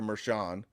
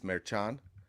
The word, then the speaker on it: Merchan: you're pronouncing you're saying Maran is that is that just is that the correct way to say it it's not Shan that would be a French pronunciation Chan like yeah it's